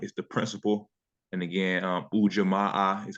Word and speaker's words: Ujamaa: And again, Ujamaa is how you pronounce it.